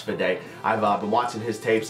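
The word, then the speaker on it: Fedde: a big fan of Eric fideo I believe it's pronounced for day I've been watching his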